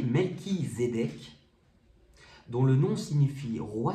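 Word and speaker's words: Melchisédech: allez c'est R alors melchisédeek prononcé melchisédeek dont le nom signifie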